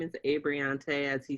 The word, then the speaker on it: Abreante: rundown okay so hi guys my name is abriante as he said and he pronounced it correctly i'm currently uh in my